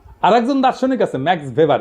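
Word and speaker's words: Max Weber: না আরেকজন দার্শনিক আছে ম্যাক্স ভেভার এটা ওয়েভার বলে অনেকে এটা উচ্চারণ আসলে ভেভার তার একটা লেজিটিমেসি এবং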